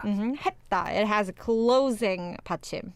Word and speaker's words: 했다: Yeah, this 했다, you don't really pronounce the 쌍시옷 here, like 했다. It's like a T almost, right? 했다. 했다.